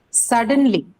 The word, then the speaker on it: suddenly: So the stress is on First syllable.